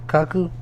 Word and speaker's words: Kaku: Yeah, like, okay, so Michio Kaku, I think is how you pronounce his name, Kaku.